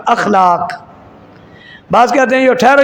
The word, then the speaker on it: اخلاق: اخلاق بڑا اچھا ہے، اخلاق نہیں ہوتا، لفظ اخلاق ہوتا ہے حمزہ کے زبر کے ساتھ، اخلاق۔ بعض کہتے ہیں جو